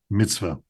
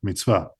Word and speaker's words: mitzvah: We have the word mitzvah, okay, as the Ashkenazim say, mitzvah. Or I use the Sephardic pronunciation of Hebrew, mitzvah.